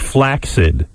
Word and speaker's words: flaccid: porn the other day i pronounced the word flaccid wrong and so do you robin what is this he claims the word is pronounced flaccid that's crazy he looked it up in the dictionary and according to the webster dictionary it's flaccid i would be surprised if that is the case is that true fred it's an alternative pronunciation but nobody ever uses it yeah it's classic because